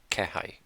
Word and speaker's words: 気配: Uh, This was indication, and it was I forget how it's pronounced. 気配。後ろに人の気配を感じた。 Indication, sign, I sensed someone behind. 後ろに人の気配を感じた。 Kehai, again.